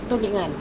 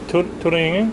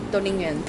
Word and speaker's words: Tulingan: This is called Ginitang Tulingan. Turingan? Tulingan. Turingan. My pronunciation's so bad.